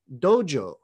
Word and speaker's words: dojo: you to know that the way that these two characters are pronounced in japanese is dojo the idea of a